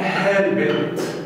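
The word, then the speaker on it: helped: كلمه زي كلمه هيلب يساعد في الماضي تبقى هيلبت. الله يا مستر انت قلتها هيلبت بالتي بحرف التي، لان حرف البي بيخلي الاي دي تتنطق تي، خلاص.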